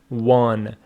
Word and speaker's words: won: Pronunciation of this word is won. Win, won. Some students say won, which is incorrect.